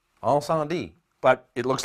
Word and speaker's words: Incendies: Now, the way you pronounce this is Incendie. Incendie.